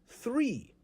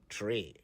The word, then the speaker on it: three: of them this morning it's three not tree it's six not C's it's 11 not 11.